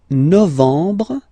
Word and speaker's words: novembre: Novembre, novembre, novembre. Okay, EM en novembre, novembre.